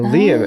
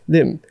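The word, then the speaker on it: Liem: And then one of our Vietnamese friends from colleagues, we asked him, he's like, hey, Danny, how do you pronounce this in Vietnamese? L-I-E-M. He's like, Lim.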